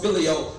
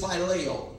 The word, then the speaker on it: phileo: Some people call it filio. But the proper pronunciation of it is phileo. It's phileo, even though some people say filio.